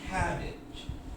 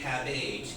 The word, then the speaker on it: cabbage: So, this is age, but in this word, this is the strong syllable. It's cabbage. So we can't say cabbage because then we have 2 strong syllables.